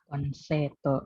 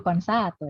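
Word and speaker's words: コンサート: Konseto. Oke. Yakin konseto? Ayo katakan aja. Konseto. Oke. Memang kalau pelafal betul konsato ya. Memang kalau Konsato. pelafalan ya konsato, konsato bukan konseto tapi konsato.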